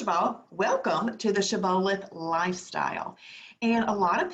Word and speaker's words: Shibboleth: give you an idea his word is actually pronounced Shibboleth Shibboleth it is a Hebrew word from the book